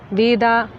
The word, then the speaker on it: Veda: For example, the original Samskrita word without any case suffix or vibhakti is Veda, and when adopted into Hindi and some other North Indian languages, it becomes Ved.